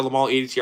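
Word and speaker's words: Le Male: Yeah, no, it's just like I said, I always used to say Lamal, or Lamale because it's spelt Lamale, but I just kind of looked at just what the most what majority of people say, and they say Lamal, and I heard Jean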